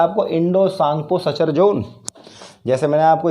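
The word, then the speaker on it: Tsangpo: सांगपो बताया था, T silent होता है इसलिए सांगपो कहते, तो इंडो सांगपो सचर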